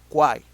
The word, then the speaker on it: quiet: In that case is quiet, quiet in the first part, quieter, okay.